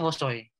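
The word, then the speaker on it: 細い: Kalau di belakangnya i itu dia hosoi. Kalau komakai itu kai. Di furigananya tambahan itunya. Tambahan hiragananya tuh kai kalau komakai itu. Kalau tambahannya i aja dia disebutnya hosoi. Dibacanya hosoi.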